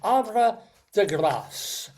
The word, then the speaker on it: Havre de Grace: about our trip to Havre, or I guess it would be Havre if it were really French, Havre de Grace. And we do pronounce the S sound because it's grace like grace.